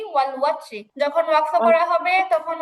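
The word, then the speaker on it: والوتر: উচ্চারণ হবে ওয়াল ওয়াত্র। ওয়াও জবর কিন্তু অ হবে না আপু, ওয়া হবে, ওয়া। ওয়াও জবর ওয়া, ভুলেও এটাকে অ পড়া যাবে না।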